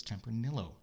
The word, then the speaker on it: Tempranillo: And the guide told us Tempranillo. Like Amarillo.